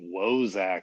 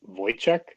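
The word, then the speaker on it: Woyzeck: ran uh as uh i think he pronounces it wozak but it's voice yeah i might be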